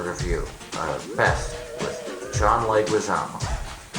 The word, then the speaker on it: Leguizamo: Alright, this has been a review of Pest with John Leguizamo, who I like to call John Lasagna, because I think that mispronouncing people's names intentionally is funny.